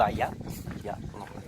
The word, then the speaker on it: Oia: Nous sommes toujours à Oia, donc ou Aya, le O muet, je l'appelle pas un